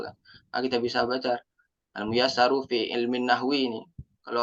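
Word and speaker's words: Al-Muyassaru: Nah kita bisa baca almuyasaru Fi ilmin nahwi ini kalau orang awam gak kan bisa baca nih mungkin dia bacanya Maisaroh Maisaroh ini bacanya almuyasaru F ilmin nahwi gitu Pak Jadi eh itu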